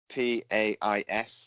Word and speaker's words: Pais: And it's Salvatore Pais, P-A-I-S. So I'm going with Pais is his name.